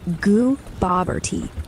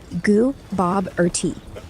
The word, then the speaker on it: Gooboberti: The stress is on Bob. Got it. It's Gooboberti. Stress on the Bob. I'm feeling it now. Thanks for sending... Say it again. All right, here we go. Gooboberti.